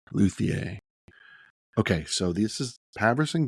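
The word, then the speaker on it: Luthier: saw a demo for the first time of luier by pavon games how' you spell that l u t h i e r luier okay so this is pavon games are the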